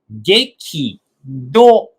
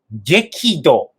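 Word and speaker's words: 激怒: La pronunciación 激怒、激怒。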